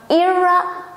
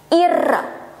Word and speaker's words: Ira: It's not Ira, but Ira.